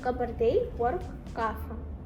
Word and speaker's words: Kabardino-Balkar: Wow, I could never pronounce this. Can you say it again? Kabardino-Balkar.